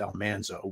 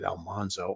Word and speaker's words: Almanzo: time on the show his name should have been pronounced Almanzo we pronounced it Almanzo I don't know really